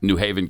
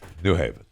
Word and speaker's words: New Haven: get it so it's new haven yes they have it it was new haven new haven connecticut new haven so the accented gran is on the second word he's on the second